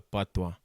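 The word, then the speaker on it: patois: local dialect I think we call pwa spelled p a t o i s but pronounced pwa see and Jamaican pwa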